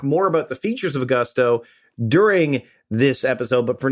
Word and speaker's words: Gusto: Now, what is Gusto? Well, it rhymes with musto or rusto, as in let's do it once more with Gusto.